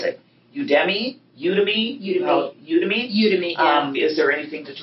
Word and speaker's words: Udemy: The only other thing that and maybe it's not mature enough to ask, and I don't know how you pronounce it, Udemy? Udemy.